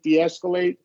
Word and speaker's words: de-escalate: of the world, but we probably want to go with the schwa with all of these, and a long E with all of these. Certainly, if there's a vowel, right? That you can't go any other way.